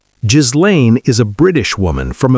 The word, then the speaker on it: Ghislaine: Her name is pronounced G-Lane Maxwell. Ghislaine is a British woman from a very wealthy family.